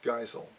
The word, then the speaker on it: Geisel: Today's book is Green Eggs and Ham by Ted Geisel. That's the way they pronounced it in German.